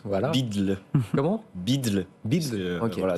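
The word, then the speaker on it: BUIDL: on le prononce voilà bidle comment bidle voilà c'est en référence au fameux Odle sur Bitcoin on inverse le D et le l voouaà impr prononçable mais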